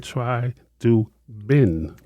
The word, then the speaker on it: Chidubem: Chai Do Bem. B E M. You have to pronounce that B. Oh, Bem. Oh, Chai Do Bem.